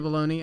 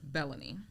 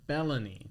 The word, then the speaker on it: Belony: So Bologna am I pronouncing your last name right? Bellan Bellan I'm glad I asked. So let's do that again. Welcome Bellan.